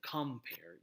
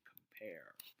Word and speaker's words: compare: I is emphasized compare the pair in compare is the is the stressed syllable you would not say compare you would say compare write the natural stress falls on this syllable the to this is